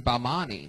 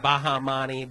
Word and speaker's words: Bamani: And that's short for your last name, Bamani. Yes. Why do you go by? Because they can't pronounce Bamani in Texas. They pronounce it Bahamani, Bahamani, Bahamani.